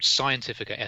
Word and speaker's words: Xientifica: novel as I says it's called scientifica SOS and you probably won't be able to spell that but it's spelt with an X as in xylophone so I first drafted